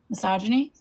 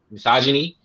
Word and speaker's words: misogyny: Misogyny. Misogyny.